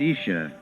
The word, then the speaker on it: Isa: The words Jesus and Isa, pronounced Isha, are substantially the same.